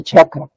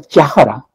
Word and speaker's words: chakra: Dice chakra. Pero esa pronunciación chakra es una silabificación castellana. ¿Por qué? Porque en quechua no puede haber dos consonantes juntas.